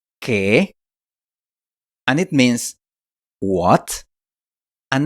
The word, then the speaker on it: qué: ¿Qué? In case you haven't noticed, the U in this word is silent. ¿Qué?